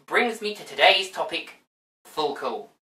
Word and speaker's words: FLCL: me to today's topic full cool i pronounce it this way because it reminds me of the swedish word for cheap beer cheap swedish beer but anyway